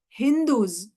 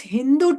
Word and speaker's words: Hindu: These Mohammedans, they pronounce sa as ha. So Hindus.